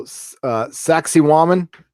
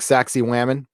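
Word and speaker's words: Sacsayhuamán: So Sacsayhuaman, which sounds like Sacsayhuaman, but that's how you pronounce it.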